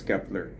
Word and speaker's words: Kep1er: So, but it's pronounced as Kepler.